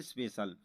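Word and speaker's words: special: और यहाँ पर लिखा है स्पेशल। तो यहाँ पर भी देखो ई का उच्चारण हुआ, ई आपका वोवल्स है। तो यहाँ पर CIAL दिया है, तो यहाँ पर हम सल पढ़ेंगे। तो इसको पढ़ेंगे स्पेशल।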